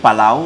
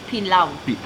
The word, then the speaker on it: pilau: the table, especially the, is it palau or palau? Pilau. Pilau. I want to pronounce the Kenyan way.